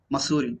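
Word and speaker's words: Mussoorie: to missouri masood yes this particular place is pronounced as spelling is pronounced as masuri not sorry so he said that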